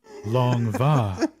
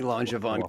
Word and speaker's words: Langevin: I listened to a French guy pronounce it, and I was like, it's definitely Langevin, but you're saying it's long va. Help me, Langevin Kenobi.